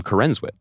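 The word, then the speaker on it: Corenswet: But they pronounce their name Corenwit. Okay, my bad. Does he say Corinwit?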